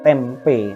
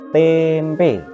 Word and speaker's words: tempe: Seperti ini, kalau ditulis diuraikan suku katanya kan menjadi tempe, tapi dalam pengucapannya itu ternyata tidak tempe, tapi tempe. Maka walaupun ini suku kata tertutup yang depan, tem itu tertutup, tapi dalam pengucapan E bulat, tempe.